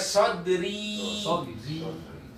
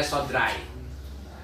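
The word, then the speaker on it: صدري: Jadi dibacanya sodri. Artinya apa? Dadaku. Dua harokat ya. Dua harokat. Sodri dadaku. Gak boleh sodrai. Sodrai.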